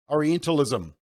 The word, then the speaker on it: orientalism: but this is a stereotype oreo oreo enterlism orientalism that's how you say it they call it